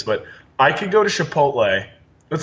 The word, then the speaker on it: Chipotle: I could go to Chipotle. Let's say if I go Wait. Did you just pronounce it Chipotle? How do you say it? Chipotle. Chipotle. No, it's It's a CH, not an SH.